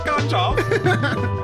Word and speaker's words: Ganjolf: You gotta say it like the Hobbits. Ganjolf.